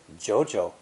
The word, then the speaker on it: 久久: When saying 2 third tones together, it's almost impossible to drop your voice twice in a row. So, Mandarin speakers say the previous character with a rising tone before dipping into the